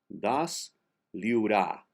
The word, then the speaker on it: desliurar: Comans comans pudrem das liura. The last R is silent.